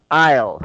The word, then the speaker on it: aisle: and the last one aisle so notice the silent s so you don't pronounce s here ok so I'll you